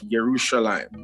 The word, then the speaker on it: Yerushalayim: let us come to the foot of yerushalayim which is a proper pronunciation for jerusalem is that ila for the world that's what he said to me 2009.